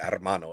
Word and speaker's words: hermano: and also my horror hermano yeah you got to roll your r's when you say armano otherwise if you got my